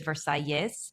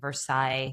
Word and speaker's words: Versalles: It's spelled with two L's, and the S is pronounced. So technically, it is Versailles. You will likely catch me saying Versailles just by accident, but